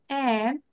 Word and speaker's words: and: এই এন্ড এর উচ্চারণ আমরা ডিটাকে প্রোনাউন্স করব না, D will be silent hair, হ্যাঁ? ডিটা সাইলেন্ট থাকবে। তাহলে এন্ড না বলে আমরা কি বলবো? এন্ড excuse me, এন্ড excuse me, এন্ড excuse me.